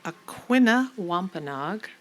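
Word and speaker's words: Aquinnah Wampanoag: Joseph Lee is an award-winning Aquina Wampenog, did I say it right?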